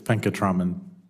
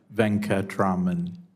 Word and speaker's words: Venkataraman: Venkataraman. Did I pronounce it right? Yes, Venkatraman. Say that one more time. Venkatraman. Venkatraman. Yes, you. I didn't know which syllable had the emphasis.